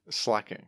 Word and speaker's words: Slaking: Slaking. Yeah, that's correct. He pronounces it Slaking, which I don't know about. No. I don't know about that. That doesn't make sense. It's slack off. It's like from slacking.